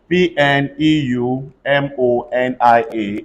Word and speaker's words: pneumonia: Again, it is also silent where whenever you have PN, PS, or PT, the P becomes silent. Watch out. PNEUMONIA. Everybody say pneumonia.